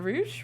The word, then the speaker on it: Rouge: a noble cause um Rogue tax uh Rouge rou Rouge Rouge I've been pronouncing name wrong Rouge has me with